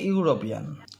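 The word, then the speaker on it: European: তো তেমনি দেখো এদিকে ইউরোপিয়ান ইউরোপিয়ান ইউরোপিয়ানের উচ্চারণটা কি হচ্ছে ইউ আসছে তাইতো তাহলে এটার এটা তাই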